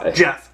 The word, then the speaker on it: Geoff: Neal or Geoff Neo I don't know Jeff it is it's spelled Jeff it's weird it spelled like g-off but whatever like how do you get Jeff from that yeah but whatever sorry